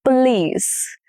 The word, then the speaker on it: police: Police. The stress is on the last syllable, which is lease.